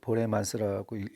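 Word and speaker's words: Borremans: 한 대여섯 명이 되는데 이 미카엘 미카엘 보레만스라고 읽어야 되겠는데 이제 뭐 벨기에 켄트 출신이에요.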